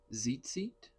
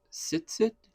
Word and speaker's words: tzitzit: So, today we're going to learn how to make zit seat or zitzio. I've heard it said sits. Um, it's spelled t z i t z i t.